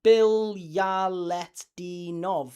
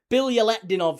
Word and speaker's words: Bilyaletdinov: Whereas Bilyaletdinov, that's 5. Bilyaletdinov, 5. What about Stelios Giannakopoulos? 5. So there you go. Giannakopoulos and Bilyaletdinov.